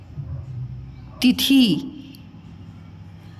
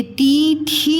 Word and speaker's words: तिथि: ये ती थी नहीं लिखा हुआ है, ठीक है, उच्चारण समझ पा रहा है? देखो ती थी नहीं लिखा हुआ है, क्या लिखा हुआ है? तिथि, तिथि। उच्चारण में कम समय लग रहा है ना, तो इसलिए छोटी लग रहा है।